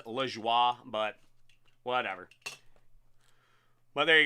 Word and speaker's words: Lajoie: You know, I know the French pronunciation is la joie, but whatever.